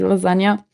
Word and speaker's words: lasagna: it's got a G in it that you don't pronounce. Yeah, So it's lasagna, but it's spelt yeah. with a G.